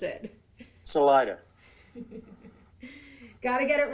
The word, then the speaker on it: Salida: How do you pronounce it? Salida.